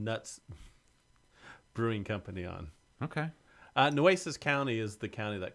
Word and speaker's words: Nueces: Nueces? Is that how you pronounce it? Nueces. Do you know what Nueces means? Nueces, I don't. Nueces means nuts. Sounds like it should mean nueces. No, nueces is nuts in Spanish.